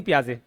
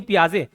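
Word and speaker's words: Piaget: नहीं होना चाहिए जीन पियाजे इसका प्रोनाउंस क्या करते जीन पियाजे जैसे भी प्रोनाउंस करें आप क्या करना जीन पियाजे उसमें पियाजे में आ आ रहा नहीं प्याजे तो वैसे इसके कांसेप्ट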